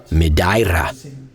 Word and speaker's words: Madeira: Or as the locals say it, Medaira.